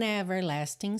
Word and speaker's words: everlasting: Smile, an everlasting smile. O G de everlasting também está pintadinho de cinza, ou seja, não será pronunciado, tá bem? A smile can bring you near to me.